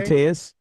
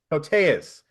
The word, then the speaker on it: Koteas: Um okay, Elias Elias Koteas? Kotias? How do you say his name? Koteas. Koteas.